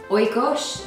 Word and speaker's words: Oikos: there's kind of like a chunkiness to the Oikos am I pronouncing that yes um can you just talk